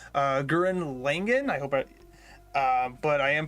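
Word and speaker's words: Gurren Lagann: Gunnar Langen versus White Lantern. Now, I'm not familiar with Gurren. Sorry, I mispronounced that wrong. Gurren Langen.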